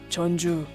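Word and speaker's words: Jeonju: the north chola province separately the characters are pronounced as chan but together it's the capital of the north chala province is chonju chonju did you know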